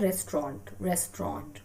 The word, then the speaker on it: restaurant: कहीं पे भी D sound नहीं आता है, ना written में and nor in that spoken English, right? Pronunciation इसका है restaurant, okay?